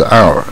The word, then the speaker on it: hour: 有每一小时一小时 hour 它也不发音，所以很乱啊。